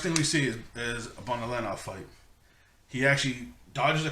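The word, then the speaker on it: Bonolenov: We've got Shizuku, Phaeton, Finks, Bonalenov, I want to say is how you pronounce it, though the narrator pronounced it differently, and Shalnark.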